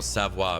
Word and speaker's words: sauna: There's actually a more proper way to say it, but SA is the closest you're probably going to get. Probably the closest I'm going to get to it.